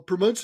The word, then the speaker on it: Pramod: And that's when you added, am I pronouncing, is it Pramod? Well, Pramod Sadalage, yeah.